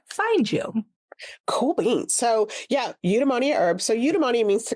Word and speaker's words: eudaimonia: So eudaimonia herbs.